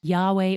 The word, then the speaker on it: Yahweh: This is YHWH, God's personal name, often pronounced Yahweh or Jehovah.